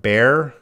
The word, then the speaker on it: bear: Susanna, what's the pronunciation of bear? Beard. Yeah, they're going to have different pronunciations. Bear, beard. Don't be confused by the spelling. They're very different vowel sounds.